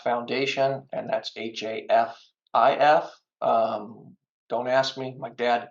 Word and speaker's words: Hafif: You can Google Half Foundation, and that's Hafif. Don't ask me. My dad died. Dad's died when he was 6. Never explained why we mispronounced it half instead of Hafif.